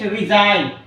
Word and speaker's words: resign: D is silent next resign r e s i g n so here the letter g is silent foreign f o r